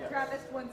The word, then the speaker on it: TRAPPIST: Is that how you pronounce it? Yeah, TRAPPIST-1 system.